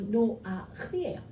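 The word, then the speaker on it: Noach: 그게 뭐냐면 노아의 원래 히브리식 발음이로 노아흐예요.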